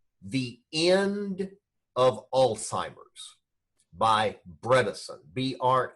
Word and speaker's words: Bredesen: first book was the end of Alzheimer's by Bredesen BR e de Sen the second book is